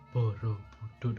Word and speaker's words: Borobudur: Nah, untuk kata Borobudur sendiri itu juga tidak asal nulis, tidak seperti yang sudah tertulis di papan.